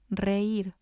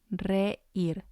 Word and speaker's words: reír: And the last example is reír, reír. It means to laugh, and it has 2 syllables, and the I has the accent, so it's going to be stressed.